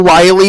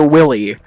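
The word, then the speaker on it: Wily: telling my dad that Dr Wy isn't pronounced Dr Willie I don't know why I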